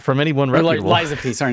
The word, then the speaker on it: Lies of P: Game of the Year landed on, what was it, Life of P last year? Not from anyone reputable. Lies of P, sorry, not Life of P. Lies of P. Life of P, you didn't say it right.